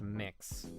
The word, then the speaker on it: MX: It's pronounced mix.